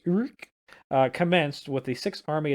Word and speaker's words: Ourcq: Orc. That is not how it's spelled or pronounced, but Urk. It is. It's something like that. I googled it, but I forgot it. So it's Urk.